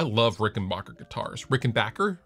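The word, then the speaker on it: Rickenbacker: Rick and Bacher guitars Rick and Backer Rick and Backer guitars is I think the proper pronunciation I'm sure you'll I'm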